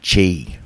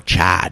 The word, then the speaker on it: Chi: So I also read Shower Sex for One by Mary Chi, or Chai, depending on how you pronounce it. It's C-H-I.